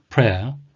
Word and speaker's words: prayer: Prayer, 한 가지 발음에 주의하실 것은 P-R-A-Y, pray는 기도하다, 동사입니다. 그래서 그걸 pray에 er이 붙어서 prayer로 하시면 안 되고요. prayer, prayer라고 하셔야 됩니다.